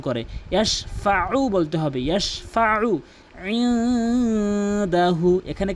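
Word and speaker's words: يشفع: অধিকাংশ লোক বলে ইয়াশফাউ। ইয়াশফাউ এই আইনের জায়গায় হামজাইনে উচ্চারণ করে, ইয়াশফাউ বলতে হবে, ইয়াশফাউ।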